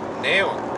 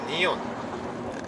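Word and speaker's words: neon: 네온 아니라 니온. 이가 첫 음절 했을 때 이로 발음 돼요. 네온이 아니라 니온.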